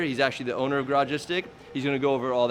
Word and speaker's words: Garagistic: It's basically garage and istic together.